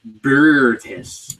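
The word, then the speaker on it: Boötes: It's pronounced B and an O with that little umlaut over it. In German, there's another O without it. TES. It's like Bertis.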